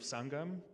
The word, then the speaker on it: Sangam: Mohan, one of the things that I really loved about, especially that documentary, was the theme of Sangam. Am I pronouncing that correctly? You are.